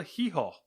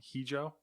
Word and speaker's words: Hijo: El Hijo. That's how I would pronounce that. I don't know. Hijo. It's not Hijo because, like, isn't it pronounced? The J is like ho, like H, yeah, right?